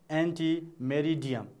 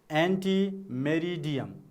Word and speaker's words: ante meridiem: is please read with me ante meridiem so what is the full form of the term you can say a.m. a.m. means ante meridiem okay the full form of a.m.